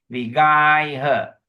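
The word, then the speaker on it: vigayha: Okay, the G-A-Y is guy, guy her. It's pronounced as I lah, G-A-I lah. Vigai her.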